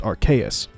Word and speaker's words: Arceus: And I guess now that I'm drawing attention to them, yeah, I know it's actually pronounced Arceus, because it's arcane and deus.